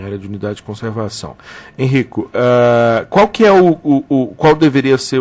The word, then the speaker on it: Henrico: Bom, nós estamos conversando com o pesquisador do Departamento de Zoologia da Universidade Federal de Pernambuco, Henrico Bernard. A pronúncia é essa mesmo, Henrico?